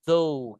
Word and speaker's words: though: Iya nah di sini bacanya guys like though gitu ya though jadi gh-nya enggak dibaca although even though bahkan though aja bahkan nanti Nanti ada kata gaunya juga di sini, Guys, ya.